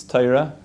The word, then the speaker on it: Torah: we were learning Taira if anybody's done what toyura is it's Torah just an Ashkenazi way to pronounce it and even though we